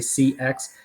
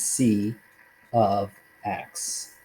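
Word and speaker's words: c(x): people want to say c x it's it's like you say f of x the way you say this is f of x okay so the way you pronounce this is c of x we pronounce this is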